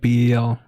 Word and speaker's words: BEL: don't jess Jessie no I say Bel um cuz be okay in Canada we have a telecomunications company called Bell b l l so I try to separate from that I just Bel L but when people